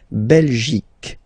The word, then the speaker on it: Belgique: Remember Q-U-E here, you will get only the sound K, okay? Belgique, Belgique. So it's not Belgique, not at all, okay? Because it's only the K.